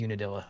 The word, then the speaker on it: Unadilla: So I am going to pop outside as soon as I confirm what Unidalia or Unadilla is pronounced. It is Unadilla.